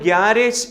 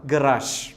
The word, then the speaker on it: garage: GARAGE നമ്മൾ ഗ്യാരേജ് എന്ന് ഉച്ചരിക്കും. കൃത്യമായ ഉച്ചാരണം ഗറാഷ്. എന്താണ്? ഗറാഷ്.